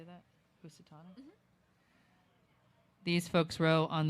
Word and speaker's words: Housatonic: Housatonic?